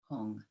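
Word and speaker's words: HUM: light stands that radiant syllable blue Hong. H-U-M or H-U-N-G, in the nature of blue light.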